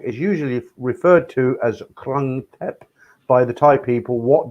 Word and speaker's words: Krung Thep: How would you pronounce that, Simon? Krung Thep? Krung Thep, yeah.